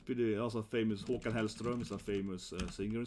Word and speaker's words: Håkan Hellström: Håkan Hellström is a famous singer in Sweden. Håkan Hellström, like that.